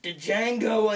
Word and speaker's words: Django: the most recent western to come out uh Django Unchained it's pronounced d Jango the D is silent